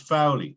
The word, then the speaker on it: Foley: this gratuitously he he his name is pronounced fowley right oh i'm sorry okay and the reason why i say that is he was described as foul eddie right oh right that's